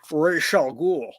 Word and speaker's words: Ra's al Ghul: And Sean Connery calls him Ra's al Ghul. Ra's al Ghul. Ra's al Ghul. At least the last time they asked him, that's what he said. Yeah. That's how he Um, pronounces it.